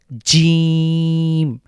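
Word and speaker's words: جيم: যে লেটার এটা হলো জিম জিম টাকে আমরা বাংলা দাতব্য বর্ণ এটা তালব্য বর্ণ বলতে পারি অর্থাৎ আমাদের জীভের জীভের যে মাঝখানটা সেটা উপরের তালুর সাথে লাগবে বাংলার যে জ রয়েছে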